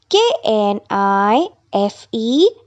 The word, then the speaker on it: knife: not a knife so letter K is silent in the word knife k n i f e is pronounced as knife D part r h